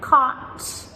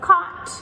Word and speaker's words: caught: We also have words like thought and taught and caught. They all have the silent GH as well. So caught, we spell C-A-U-G-H-T, taught, T-A-U-G-H-T, and so on.